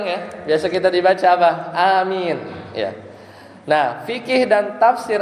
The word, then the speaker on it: amin: Bacanya gimana? A-nya panjang ya. Amin atau amin atau amin apa? Amin. Yang mana? Amin. Ya, jadi A-nya panjang, Mi-nya juga panjang.